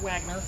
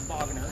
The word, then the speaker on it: Wagner: It's not pronounced Wagner, it's Wagner because it is a German building.